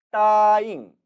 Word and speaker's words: 答应: 이제 다시 돌아와서 我叫他 내가 그를 불렀는데 他不答应 따잉 일성어로 발음되죠.